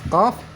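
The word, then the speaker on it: ق: ke langit-langit bagian belakang makanya saat kita membaca huruf qaf suaranya lebih tebal daripada bacaan huruf huruf Kaf coba kita baca huruf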